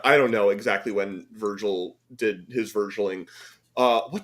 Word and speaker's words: Virgil: oh by the way it's only a quote from Vergo in that is not not how you pronounce Virgil okay unless Virgil is